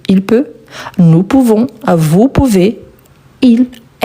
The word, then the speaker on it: peut: Ici on écrit avec T et on ne le prononce pas. Donc je peux, tu peux, il peut, elle peut, on peut.